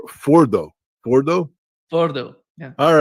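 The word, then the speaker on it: Fordow: underground facility, but originally Ferdos was part of a series of evacuation sites created by the by the Iranians. U, they they pre-built these underground facilities to evacuate. Yeah, the correct pronunciation is foro.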